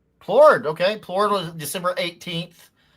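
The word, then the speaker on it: Plourde: I don't know how to pronounce them. Plurid. Plurid. Plurid.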